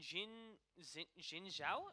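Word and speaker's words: Xin Zhao: And Jin Zhao, is that how you pronounce it?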